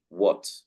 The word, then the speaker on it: what: spelled with A, such as the word what. We do not say the H, and we say what.